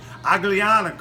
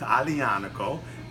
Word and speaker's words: Aglianico: american like me in new york and say ugly onic Oh but it's Adi Annika is the proper pronunciation it has ties to degree and because